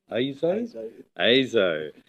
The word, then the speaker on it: ISO: Is it ESO? Is it ISO? It's ASO? ASO. And we have that on very good authority, that is the correct pronunciation.